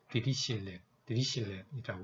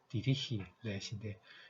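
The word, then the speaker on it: Dirichlet: 자, 그 다음에 이걸 우리가 문서를 보고서 LDA라는 게 유명한 이걸 우리가 그래픽 모델로 해서 레이턴 영어로는 디리실렛이라고 합니다. 독일 사람이니까 디리히렛인데 영어로는 이 시에 발음은 디리실렛이라고 합니다.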